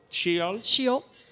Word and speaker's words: Cyeol: And you can see that Seal? Yeah. How would you? Cyeol would be how you technically pronounce it, but you can just do what feels best for you, Frosco.